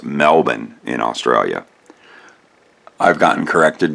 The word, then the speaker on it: Melbourne: look it another from melbourne well actually it's pronounced melbourne in australia i've gotten corrected before but my